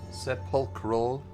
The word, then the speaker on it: sepulchral: Sepulchral Ray is how that should be pronounced.